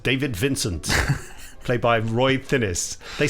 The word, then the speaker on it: Thinnes: the bloke off invaders finnish i think he pronounces it finis ah okay right it